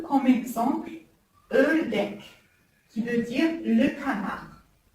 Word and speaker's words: ördek: Maintenant, le O avec deux points, il se prononce E. E comme exemple, Ördek, qui veut dire le canard. E, Ördek.